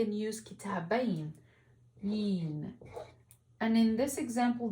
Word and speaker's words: كتابين: But I also can say and use كتابين, yin. And in this example, the ya is pronounced as a letter, not a long vowel. So we won't say كتابين, we have to say كتابين, كتابين.